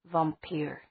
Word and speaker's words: vampir: She pronounced the word the Hispanic way, which Meredith always found more scary. Vampir.